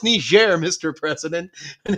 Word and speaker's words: Niger: It's pronounced Niger, Mr.